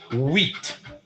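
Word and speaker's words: huit: go go go shorty eight in French is weat whe I keep adding real let me spell whe u i mean not u h u i t almost like an IT guy like James we all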